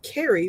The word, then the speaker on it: Kerry: Kerry, is pronounced Kerry, like ferry.